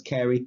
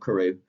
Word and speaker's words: Carew: way as with a Thomas Carey not Carew Carey is spelled Carew it's Prince Carrie and